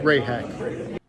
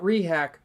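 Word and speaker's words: Rehak: part of baseball season Jeremy rayhack rayhack not rehack rayhack Ryan additon sea you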